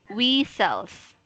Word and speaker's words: whistles: So don't be confused with the H because it is silent in that word, okay?